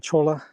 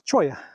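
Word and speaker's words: cholla: My Spanish pronunciation is definitely lacking, but I think I was pronouncing it chola, but it's choya.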